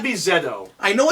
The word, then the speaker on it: ZO: know it's not me Zed oh I know it's not zo I'm sure that it's not the CEO because we're the only people that pronounce at Z it's Zed Zed oh okay well that